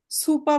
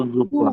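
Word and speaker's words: Suppe: হ্যাঁ, আমরা এখানে সুপা বলা যাবে কি? না, এটা কি? বলতো জুপা।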